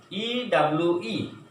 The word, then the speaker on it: ewe: But when we pronounce this word, EWE is pronounced as long sound of U.